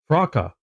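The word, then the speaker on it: Frok: How do you pronounce it? Frocka.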